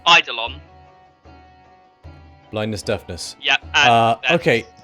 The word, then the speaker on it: Eidolon: I'm going to instead cast at 3rd level blindness, deafness, on the Ilia. I'm pronouncing it wrong. This thing. Eidolon. Eidolon.